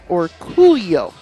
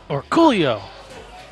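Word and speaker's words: Orcullo: And for those of you who don't know, it's Orculio. And that is exactly how Dennis says it. Because we asked, hey, Dennis, three Derby cities ago, how do you say your last name? And then with enthusiasm. Orculio is exactly how he said it. Yep. With that emphasis.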